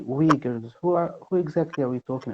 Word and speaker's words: Uyghur: understand, when we say Uyghurs, who exactly are we talking about? So we actually pronounce it as Uyghur, but in the West, it's very difficult to say. So they say Uyghur.